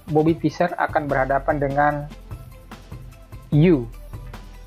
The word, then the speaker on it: Euwe: Sebagai contoh, saya akan sajikan sebuah partai di mana Bobby Fischer akan berhadapan dengan U. Tulisannya EUW, tapi saya lebih senang membacanya U, di Leipzig pada tahun 1960.